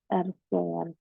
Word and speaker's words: R-square: Mungkin beberapa dari kalian masih awam ya dengan kata R-square. Jadi ini bacanya bukan R2 ya, atau R pangkat 2, bukan teman-teman, tapi R-square.